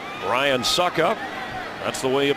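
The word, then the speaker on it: Succop: Ryan Suckup, that's the way you pronounce it for the extra point.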